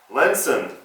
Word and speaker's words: Lensun: in one I'm sorry I've been mispronouncing it it's lenon lenson solar energy so let me show